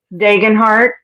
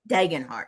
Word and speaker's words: Degenhart: What did you What How do you pronounce that glass, Ladonna? Degenhart. It's Yeah, d e g e n heart. Degenhart.